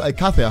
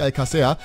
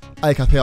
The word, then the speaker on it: Alcácer: ist, wenn ich Paco Alcácer sage. Der einzige Fehler daran ist, dass es Alcácer heißt und nicht Alcácer, weil der Akzent auf dem A ist.